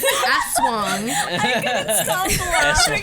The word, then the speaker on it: aswang: on how to pronounce aswang. Stop That's laughing. wrong. Yeah, she was dying. She told me about it. The YouTube did me dirty. I blame the YouTube guy because he pronounced it asswang.